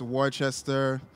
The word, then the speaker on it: Worcester: It's just Worcester. A lot of pronouncing the letters that don't need to be in there.